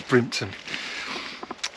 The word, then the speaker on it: Brimpton: brining tuna I'm in brimpton which is which means uh the estate that belongs to Bruna or Brun well maybe should pronounce it Brin because it comes out as brimton uh that why is